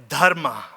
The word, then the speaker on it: dharma: They called it dharma. You have to roll your R's to pronounce it right.